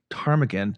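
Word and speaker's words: ptarmigan: And so they were they were going to name it Tarmagan, but they couldn't they couldn't uh agree on how to spell it.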